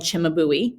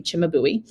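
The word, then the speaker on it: Cimabue: baby jesus done by an artist called chimabui yes that is really how you say his name chimabui um and then this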